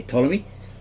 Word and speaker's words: Ptolemy: which is actually ta you don't pronounce the p same with ptolemy you don't say paton you say ptolemy these then appear to